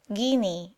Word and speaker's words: genie: they had constantly seen genie and their belief in them seems deeply rooted this word is pronounced guinea in southern arabia on january 4 we